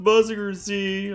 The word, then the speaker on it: Mazinger Z: This is mazinger zed. So it's pronounced muzzinger z.